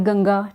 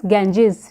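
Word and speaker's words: Ganges: river जो है तो हम इसको गंगा प्रोनाउंस करते हैं but internationally it is known as इट is pronounced as गेंजेस और ये जो हमारे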